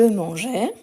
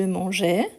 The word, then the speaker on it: mangeais: le il au pluriel, on va garder la marque du E justement pour avoir la prononciation. Donc on dit Je mangeais. Je mangeais avec le E ici qui vient du présent.